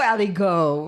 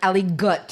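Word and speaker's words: aligot: go there you go ali go right all the way all the way really really yeah aligo is spelled a i no a a-l-i-g-o-t right yeah and it's also like ali gut it gets to your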